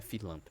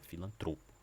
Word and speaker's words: filantropo: Não é filantro, é filantropo.